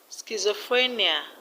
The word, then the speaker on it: schizophrenia: Schizophrenia, the stress is on free. Schizophrenia.